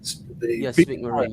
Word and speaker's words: Speake-Marin: I'm looking forward to seeing all the other brands, especially, I don't know how you pronounce it. I think is it SPEAKE-MARIN? SPEAKE-MARIN, yeah.